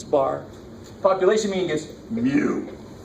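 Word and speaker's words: μ: But it's a little U with an extra leg on it, and you pronounce it mu, so it sounds like a French cow normally.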